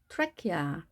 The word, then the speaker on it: trachea: 먼저 붉은색으로 된 부분 trachea, trachea. 여기서도 CH는 크 발음이 됩니다. trachea가 아닌 trachea로 발음합니다.